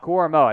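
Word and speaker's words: Owusu-Koramoah: into joku uh do you know how to pronounce that next name Jeremiah Jeremiah Owusu koramoa koramoa that's right cormo Jeremiah OSU koramoa did not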